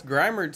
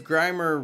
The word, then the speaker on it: Grimer: And why does Grimer rhyme with Slimer?